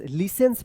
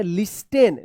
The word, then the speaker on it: listens: The student LISTENS लिसेंस, लिसेंस पढ़ेंगे, लिसेंस उच्चारण होता है इसका, लिसेंस, LISTENS इसको आप पढ़ते होंगे लिस्टेन, लिस्टेन नहीं होगा, यहाँ पे टी जो है ना साइलेंट होता है, लिसन्स होता है, लिसन to music, DAILY daily.